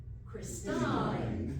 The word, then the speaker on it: Christine: So how, you may ask now, and I'll tell you even if you don't ask, do we get a long E rather than a long I?